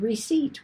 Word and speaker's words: receipt: uh below that receipt why in the world is there a p in the word receipt we don't hear it we don't spell it we don't say it it's because it comes to us from recipio and the p is retained from the original latin language goes straight across from